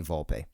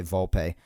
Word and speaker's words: Volpe: say volpe some people say volpe in italian the e is usually volpe or volpe so i like to say it that way but if it's volpe then volpe you know i want to pronounce correctly unless of course it's